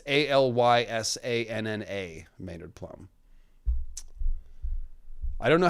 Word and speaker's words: Alysanne: And it's Alyssanna, Maynard Plum. I don't know how the Grateful Dead song is spelled, but that's Alysanne Targaryen.